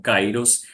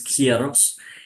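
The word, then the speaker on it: καιρός: para tiempo que eh nosotros la pronunciamos como cairos en la lengua castillana pero en en griego es kieros eh el kairos es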